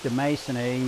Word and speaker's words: demasoni: You'll note that I pronounce that terminal I in the species name as a long E. That's because in Latin, a single I is long E. Now, if you have 2 I's in a row, it's pronounced EI, just a quirk of the language.